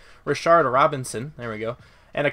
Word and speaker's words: Rashard Robinson: Donte Johnson Jimmie award Rashad Roberson and whoa mispronounce that name Rashard Robinson there we go and